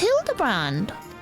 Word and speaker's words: Hildibrand: Uh, it's pronounced Hildabbrand.